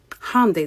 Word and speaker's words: Hyundai: Hyundai, that's how you pronounce it, by the way.